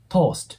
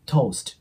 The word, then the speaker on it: toast: 思うんですけどここでは 20 重母音になるんで O のね O とウの 2 つの母音が入るイメージになりますなので to ですね toost ではなく TST ていう感じでちょっとウの音をイメージしてもらうといいかなと思いますもう 1度発音する